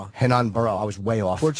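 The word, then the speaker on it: Renan Barão: Ran Hanan Barau. Hanan Barrow. I was way off. Portuguese. The R is an H.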